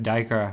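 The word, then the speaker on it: Duiker: Yeah, like even some of the names are completely different from the way, like Diker. Yes. Yeah. I would spell it Dyker.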